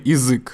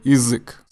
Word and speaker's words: язык: And when you say язык, you can actually say язык. So it's more like язык, язык. So you can say язык, or you can say quickly язык.